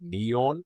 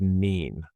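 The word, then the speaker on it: nion: Going on to the ash or how it would be pronounced as neon, I believe. So, I have the actual Celtic pronunciations. Actually, it's just pronounced nin, but it's spelled n i o n or n u i n, but it's pronounced as nin.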